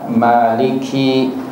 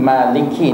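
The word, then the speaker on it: مالك: Dari sudut bacaan, maliki ini ada dua cara bacaan. Sama ada huruf mimnya tu dibaca dengan mad, seperti yang kita baca, iaitu maliki, panjang, ataupun tanpa mad, satu harakah, iaitu maliki. Kedua-duanya ini, bacaan ini benar dan mutawatir.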